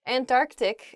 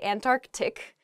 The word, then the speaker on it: Antarctic: really oh i guess when you're saying this word quickly you might leave out that first c in the antarctic so don't say that don't do that say antarctic the the very very